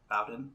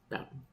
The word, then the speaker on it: Bowden: Bowden? How do you say it? Bowden.